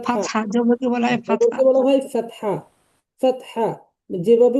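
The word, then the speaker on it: فتحة: আরবরা ফাতহা, বলে ওঠে ফাতহা, ওরা ফাতাহ, ফাতহা, ফাতাহ হয়, ফাতাহ, কিন্তু আমরা উচ্চারণ ফাতহা, ফাতহা বা ফাতাহ, এটাও হয়, কিন্তু আমরা বলবো ফাতহা।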